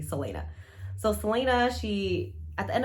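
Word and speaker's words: Celaena: I always called her Kalena, but I think it's actually Selena.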